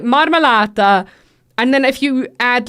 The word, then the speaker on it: marmellata: And it's marmellata.